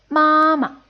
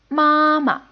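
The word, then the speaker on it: 妈妈: syllable ended like this mama in the case of mother it's mama it's first tone then neutral tone mama see the difference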